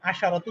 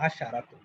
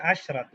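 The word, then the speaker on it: عشرة: একইভাবে 10 গিয়ে আমরা এবার সব দেখবো না, আশারাতু তুল্লাবিন, আশরু তালিবাতিন। তাহলে বোঝা গেল ব্যাপারটা। আচ্ছা, এখানে আরেকটা ছোট বিষয় আছে, এটা খেয়াল করুন, দেখেন আশরু, আর এখানে কিন্তু আশারাতু, আশা নট আশরাতু, বরং আশারাতু, আর এটা হচ্ছে আশরু।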